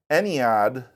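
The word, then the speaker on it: Ennead: thus all the gods were formed and his ened that's how you pronounce it was complete and now this this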